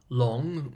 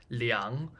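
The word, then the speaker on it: Leung: the gentleman's last name long spelled l e u n g is the anglicized spelling of a Cantonese name which in Mandarin is pronounced leang for the sake of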